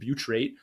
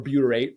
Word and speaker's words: butyrate: one of which is called butyrate now, or butyrate, depending on how you want to pronounce it.